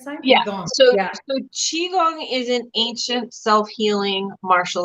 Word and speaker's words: Qigong: as well so is it through that the Qigong I say it right this side yeah so yeah so Qigong is an ancient self-healing martial art so like